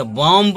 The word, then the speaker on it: bomb: बॉम्ब नहीं बोलेंगे, बॉम्ब नहीं बोलेंगे, यहाँ पे बोलेंगे बॉम्ब।